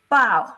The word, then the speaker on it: 包: Now, for instance, like 包子, bao, bao, bao, bao, bao, that is the fourth tone, 包子.